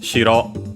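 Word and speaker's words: 白: Shiro on its own, accented on the first syllable, white.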